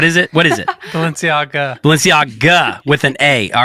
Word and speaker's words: Balenciaga: what I'm doing subconsciously I'm combining the Bellagio hotel with Valencia that's what I'm doing what is it is this what is I say it wrong again I'm gonna write it down oh it is close to the Bellagio all right Balenciaga all right Balenciaga I